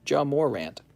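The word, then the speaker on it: Ja Morant: guy's a big pul his name is pronounced Jam Morant Jam Morant woo John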